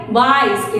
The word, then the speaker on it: wise: તમને ભ ભલે સંભળાતો હોય પણ W નો સાઉન્ડ વ થાય અને V નો સાઉન્ડ એ વ થાય.